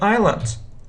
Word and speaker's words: island: I would buy an island I would buy an island island yeah please you know that we spell it i s l a n d but we don't pronounce s s isn't pronounced we